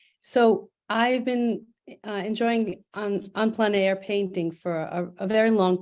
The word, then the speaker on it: plein air: I noticed that in your artist statement, in your artist statements, you mentioned that these are painted on plein air. I think that's how it's said.